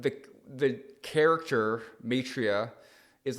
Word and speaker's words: Maitreya: spirituality thing is the the name Matria. How did that happen? Yeah, we we were young. Um, okay. Cuz it rhymes with a bar nearby here, Atria.